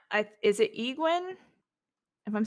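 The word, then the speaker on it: Éowyn: it's Eowyn. It's just hard. I'm Yes. not know Okay. if I'm Yeah.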